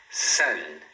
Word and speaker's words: sun: Agora quando você fala o N, você fala sun. Sun. Você coloca a ponta da sua língua aqui em cima no céu da boca, né? Próximo aos dentes superiores.